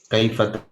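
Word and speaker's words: كيف: Maka bacanya kaifa. Kalau wasol, kalau waqaf, fa-nya harus kita sukunkan. Karena rumus mewakafkan bacaan adalah dengan mematikan atau mensukunkan huruf yang terakhir. Kaifa disukunkan menjadi kaif 2 harokat.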